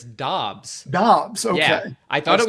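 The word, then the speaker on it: Doubs: Gabriel Davis this season um Romeo is it dubes or dubs because so it's actually neither it's Dobbs Dobbs okay I thought it was dubes for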